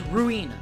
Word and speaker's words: Ruina: library of Ru Rua it's ruina and I will not say any other way today crazy laborator what are